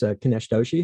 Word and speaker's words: Kinesh Doshi: Today, we're very excited to have as our guest Kinesh Doshi, who is the CEO of Accionlabs. Did I pronounce that correctly?